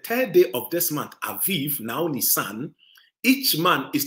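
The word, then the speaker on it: Abib: month for the Hebrews it was called Aviv but it is spelled a b i b and you put a bar under the first B so you pronounces that V Aviv or Aviv that is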